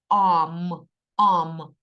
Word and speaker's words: arm: англійською мовою буде амма пишеться ар р м Arm читається ам-ам рука одна ми з